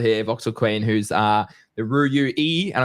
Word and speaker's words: Ruyui: who's the Ruyui, and I'm going to pronounce that correctly, the Ruyui, I hope that's right, founder. So we'll be talking about that today as well. So Voxel, thank you so much for joining us today. Thank you very much for having me. And also, you are pronouncing it correctly.